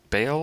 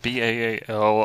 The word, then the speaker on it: Baal: Baal is more the Hebrew. So it's spelled B-A-A-L. I like to spell it B-A apostrophe A-L and pronounce it Baal or Baal, whatever.